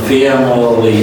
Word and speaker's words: family: I is a reduced sound here. It's a schwa, okay? Because the first A is a stretched, okay? And the last L is a dark L, so it's pronounced family.